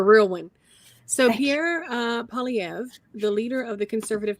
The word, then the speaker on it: Poilievre: And thank you for putting the pronunciation here, Claude. Yes. You're a real one. So Thank Pierre Poilievre, the leader of the Conservative Party of Canada, didn't get elected, as the kids say.